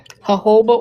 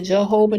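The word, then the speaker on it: jojoba: Put it in some um hoba oil. People call it Jehovah. They pronounce the J. I don't.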